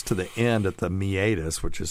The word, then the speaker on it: meatus: when it gets to the end at the meatus which is spelled m me a t s so it's spelled meus but it's pronounced meatus once it gets there it's it really is